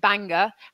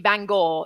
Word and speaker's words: Bangor: Daryl I sincerely apologize apparently I pronounced Bangor incorrectly um in Northern Ireland I called it Banger and it should be Bangor so Daryl my sincere